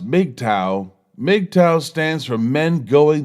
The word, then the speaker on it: MGTOW: as M GTO W what is M GTO W pronounced make tau mgtow stands for men